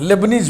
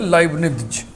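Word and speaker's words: Leibniz: लेबनीज भी पढ़ते हैं उसको, लेकिन उसका सही उच्चारण है लाइबनिज़।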